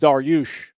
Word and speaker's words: Darius: The name Darius actually derives from an ancient king from the Persian kingdom. It's actually pronounced Daryush, but y'all butchered it.